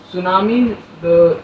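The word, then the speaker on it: tsunami: सुनामी जैसे बड़े-बड़े की रोशनी शासकीय वगैरह शब्द सुनामी और ए पी एस यू एन ए एन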